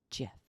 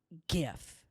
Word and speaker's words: GIF: english dictionary is wrong it's a soft g it's pronounced jeff jeff not gif end of story so